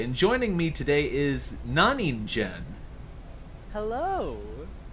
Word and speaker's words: Naningen: It is Naningen. Naningen. Yeah, don't worry. It I'm gets mispronounced much more often than I would think, considering I just mashed two well.